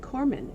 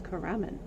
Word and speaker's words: Karaman: And he calls it Corman, and it's Karaman. It's spelled Karaman, not Corman.